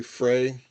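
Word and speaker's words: Freyr: And I do pronounce his name as Frra, but it's technically Frey.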